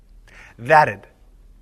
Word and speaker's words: that'd: However, when we combine d with a word that ends in the sound t, we pronounce the contraction d as an extra syllable, id. Listen. That'd.